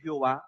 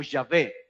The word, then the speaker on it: Yahvé: nombre de Dios es Jehová, explíquele esto, eso no es cierto. Le pusieron vocales para tratar de pronunciarlo y de ahí algunas traducciones le llaman Jehová, otras las traducen como Yahvé, ¿sí?